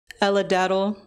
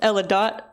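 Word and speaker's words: Eladatl: This next poem is called Ella Daddle, after Seshu Foster's book, which I was just told is pronounced Ella Dot, not Ella Daddle.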